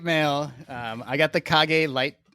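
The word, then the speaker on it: Kage: uh okay I'm I'm is it KAG it is KAG that is that is Japanese for shadow because it is designed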